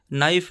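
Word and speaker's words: knife: की आवाज आती है नाइफ में के साइलेंट रहता है नॉक में भी के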